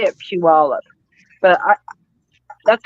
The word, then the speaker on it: Puyallup: Do you say Puyallup or Puyallup? Number one or number two? how do you say it? Puyallup? Is that how you say it, March? Puyallup. Yeah. I say it Puyallup.